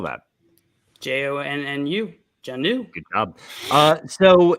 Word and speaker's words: Jonnu: say then it's John New. Jonnu? John New. How do you spell that? JONNU. John New.